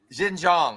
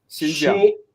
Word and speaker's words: Xinjiang: So it's not like these separatists had broad-based support in the province of Xinjiang. How do you say that? Xinjiang. Xinjiang. Xinjiang. Thank you. Xinjiang. Xinjiang. Yeah, much better.